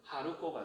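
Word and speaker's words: 春子: 봄은 하루예요. 하루. 그 다음에 아이자자는 아이로 읽을 때는 코라고 읽어요. 그럼 뭐다? 하루코가 돼요.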